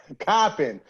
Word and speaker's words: Coppin: I said Coppin. Don't play me. Don't play me. Coppin, yo. Coppin State. So, Who's from Baltimore? Who's from Baltimore? I ain't nobody, but that's how they say it up there. So that's how I say it.